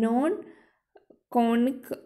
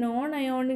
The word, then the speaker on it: non-ionic: What are anionic, cationic and non-conic detergents? Illustrate with examples. I think it's not conic, okay? It's ionic. Yeah, anionic, cationic and non-ionic detergents. Yeah, I think it's a pronouncing mistake.